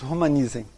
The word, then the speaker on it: Romanizen: Nós pronunciamos Romanizen. Romanizen. Se abole o S.